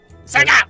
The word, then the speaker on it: Sega: Sega.